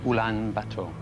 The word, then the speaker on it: Ulaanbaatar: Ulaanbaatar. Well pronounced, that's right.